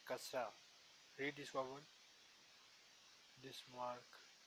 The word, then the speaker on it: kasra: This mark kasra. This mark written below the Arabic letter is called kasra, which stands for a short I. This I is pronounced as the vowel in 10.